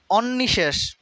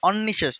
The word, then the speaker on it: অনিঃশেষ: star অনেকবার আসছে পরীক্ষায় অন্নিশেষ অনিঃশেষ আমরা অনেকে পড়ি অন্নিশেষ অনেকে হয়তো পড়তে পারে আর কি অনিশেষ এটা হবে অনিঃশেষ অনিঃশেষ এই যে উচ্চারণ যখন